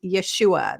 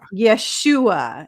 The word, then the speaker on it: Yeshua: Yeshua and that's fine the actual Hebrew pronunciation is Yeshua that is how you say it in Hebrew Yeshua is how you say